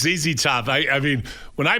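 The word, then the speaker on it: ZZ Top: So Ryan, how do you say the name of that band? Zed Top. So Zed Top. Are they American? Yeah, they are. It was a Zezy Top thing. It's Zezy Top.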